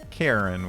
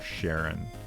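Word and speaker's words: Charon: Karen with a K or Sharon.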